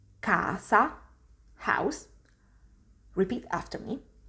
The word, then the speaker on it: casa: so you can see all four words have this ah open sound the next sound i'm